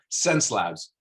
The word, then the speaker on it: Xencelabs: the world to learn how to how to pronounce this word so sense labs get it get it in there so you'll